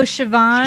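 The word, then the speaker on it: Siobhan: it doesn't it's like what's that other weird name that looks like cahan but it's actually like oh sioban sioban yeah yeah yeah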